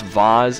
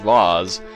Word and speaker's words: vase: but i'm i'm sure someone's going to comment on this saying it's pronounced voz well it's pronounced both ways tomato tomato i like vase better it sounds like it looks oh a piano i